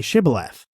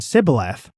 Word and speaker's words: Shibboleth: no they told him please say shibboleth if he said sibileth because he cannot pronounce it correctly They seized him and